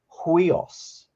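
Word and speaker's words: υἱός: you it's got a it's got an apostrophe but it's facing to the right so it's it's got a h sound out the front of it and we pronounce this huios so it's a bit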